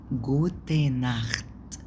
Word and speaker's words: Gute Nacht: وفي جوتي، جوتي ناخت، جوتي مش جوتن، جوتي ناخت، جوتي تي، جوتي عشان دي الاي بتاعت الانجليش بتنطق اي كأنها اي انجليش.